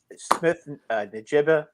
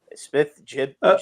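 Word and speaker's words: Smith-Njigba: Smith Najiba, I think that's how you pronounce it. Smith Najiba, the kid from Ohio State.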